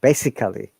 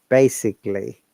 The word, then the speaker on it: basically: for instance you know this word most of the times people pronounce it basically no remember because of the straw sound that is aloy it should be basically okay and and it's